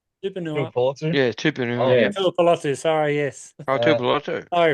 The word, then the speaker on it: Tuipulotu: Tuipulotu, sorry, yes.